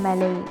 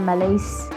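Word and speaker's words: Millais: উচ্চারণটা হচ্ছে মেলেই। বানানটা হচ্ছে এম I double L এ আই এস আমি প্রথমে বলছিলাম মেলেইস কিন্তু আসলে উচ্চারণটা হচ্ছে মেলে তো এটা দিয়ে এটা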